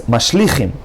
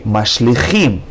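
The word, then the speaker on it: משליכים: And again, some people would pronounce this word as Mashlichim, but that's a wrong pronunciation. You should say Mashlichim.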